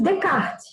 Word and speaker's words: Descartes: Nós vamos ter primeiro o Descartes, olha ali o nome dele, René Descartes, mas a gente fala e chama ele de Descartes, certo? A pronúncia, né?